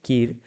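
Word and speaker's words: Kire: Prominent लेखक है ईस्टरिन कीर, या फिर कायर भी कहते हैं या कीर, जो जैसे भी आप प्रोनाउंस करें।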